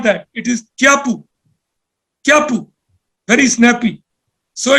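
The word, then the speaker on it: Kyaukpyu: y a k p y u most people pronounce it as Kaku but it's not that it is kapu kapu very Snappy so it's interesting to learn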